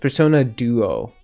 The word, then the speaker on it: Persona Duo: Um, they also do not use normal Personas, but instead Persona IIS pronounced Persona Duo.